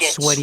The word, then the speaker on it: sweat: And remember the word sweat, because that is a pronunciation, EA, and it's difficult in English because EA can, for